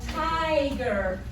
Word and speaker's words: tiger: word tiger versus tigger so we have tiger that begins with an open syllable versus tigger we have the closed syllable because we have the extra g there yes when you have an open syllable that vowel is going to be long this one we have a vowel and it's followed by a convolution it's closed and then it would be short so this word is